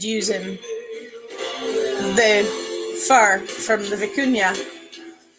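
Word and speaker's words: vicuña: of Kashmir and vicuna the vicuna or the Cunha to use its actual pronunciation from where that comes from it's a cousin of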